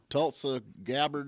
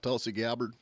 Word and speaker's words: Tulsi Gabbard: Tulsa Gabbard or Tulsi Gabbard. yeah, Tulsi Gabbard.